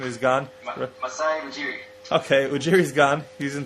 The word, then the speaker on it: Masai Ujiri: Since Masaji Uri, however you say his name, is gone. Masai Ujiri.